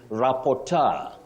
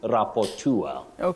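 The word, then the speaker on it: rapport: remember you can also say t just like rapor rapor and rapur entrepreneur entrepreneur and entrepreneur or anro okay an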